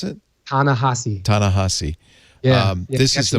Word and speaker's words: Ta-Nehisi: How do you pronounce it? Ta-Nehisi.